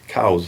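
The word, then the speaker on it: Coues: And I've got a screenshot of a footnote written by Elliot Cows in 1862 where he says, my name is pronounced Cows, C-O-W-Z. Cows.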